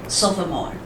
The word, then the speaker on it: sophomore: OK，哈，sophomore。